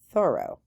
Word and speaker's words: Thoreau: great place to visit they told they told me that it's pronounced thorough so I Tred to